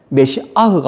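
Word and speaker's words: מָשִׁיחַ: 것입니다.이 메시아와 그리스도의 관계는 메시아는 히브리어입니다. 메시아의 뜻은요. 메시아흐가 원래 발음이에요. 시 아 기름부음을 받은 자 하나님은 기름부음 받은 자를 약속하신 거예요. 그것을 우리 히브리어로 메시아라고 하고 그냥 우리는 그냥 메시아라고 발음을 하죠.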